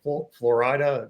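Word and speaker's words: Flo Rida: had some guys like acts like florid that's how you say it but FL yeah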